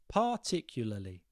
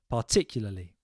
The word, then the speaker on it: particularly: But if you are listening along, we're going to go for par, P-A-R, par, tick, like you tick a box, you, as in me and you, and lully. Whatever way that works for you. Particularly.